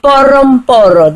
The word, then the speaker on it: poro: That R is a R, not R. Okay, it's pronounced R. Poro. So it's only pronounced if there's an RH in there. So this one there's no H, so it's a R.